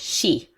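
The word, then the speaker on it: Sídhe: finished this which are all pronounced she oh yep they once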